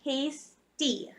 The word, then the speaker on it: pasty: impediment but it's actually nice deed so you pronounce it pasty so it's like my name the